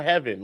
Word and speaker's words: Heaven: is it Haven or Heaven I don't know I've heard it says it's not just y'all I've heard it said six different ways no it is yeah it's pronounced Aiden heaven like the sky oh okay got it